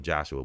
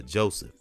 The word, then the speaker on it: Joseph: I called him Joshua, but it's not Joshua. It's Joseph. It's Joseph Bologna, who was one of the most greatest musicians of all time.